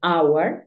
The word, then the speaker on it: hour: cuatro palabras en las que la H es muda por ejemplo Our que es hora tenemos eh honor y